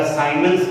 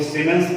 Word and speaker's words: सीमेंस: कुछ जगह पे प्रोनाउंसिएशन इनका साइमेंस करते हैं, कुछ सीमेंस करते हैं, आपको जो बोलना है वो बोलिए, बट इन्हें रिप्रेजेंट किया जाता है कैपिटल S से।